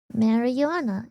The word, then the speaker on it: marijuana: English pronounces it more like marijuana. Marijuana. J, not Y.